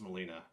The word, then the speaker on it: Melina: It also bothers me her name is not pronounced Melina. I feel like there needs to be an extra N if you want it to be like a non-vowel sound for me.